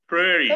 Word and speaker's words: pretty: Entonces, así, bonita le decimos prairie. Pretty. Prairie. Prairie. Prairie. Aquí hay una particularidad, ¿sí? Que esta de aquí se pronuncia como que fuera una R.